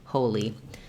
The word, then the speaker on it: Holi: You can think of this, it's the same as our word in English, holy, and that has first syllable stress, the O vowel, and the E, the letter I says the E sound, li, holy.